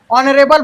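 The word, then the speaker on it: honourable: ओल से शुरुआत होते, एच हकारत है जी, साइलेंट रहते, है नहीं। और इसका उच्चारण स्वर ध्वनि मतलब कि ऑनरेबल, है नहीं, ऑनरेबल वॉवल साउंड से शुरू होता है, इसलिए इसके पहले एन का प्रयोग होगा।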